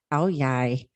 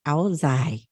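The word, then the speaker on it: Áo dài: The Ao Yai in the southern region is pronounced as Ao Yai. If you come from northern region, it actually is pronounced Ao Zai.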